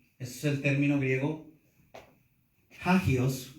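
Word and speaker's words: ἅγιος: Entonces, santo, ese es el término griego hagios, con J-A-G-I-O-S, puedes ponerle acento en la A, santo, del griego hagios, y se traduce consagrado para Dios.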